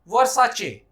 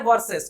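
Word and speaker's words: Versace: आपने भी कहना होगा वर्साचे, आपने नहीं कहना है वर्सेस, क्योंकि कंपनी जो कह रही है आपने भी वही कहना।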